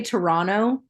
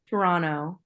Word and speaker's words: Toronto: I think you say Toronto that's how you're supposed to say it yeah Toronto you're not supposed to pronounce the second t I had no idea